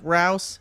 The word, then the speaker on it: Rouse: Thank you, Jake Rouse, pronounced like house.